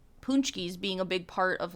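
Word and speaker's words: pączki: If they saw the word Punchki like written out, I don't think they would think it's pronounced like that at all.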